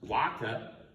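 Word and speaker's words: vacca: Remember in Latin these are pronounced as W's. Waka waxine waka equals cow.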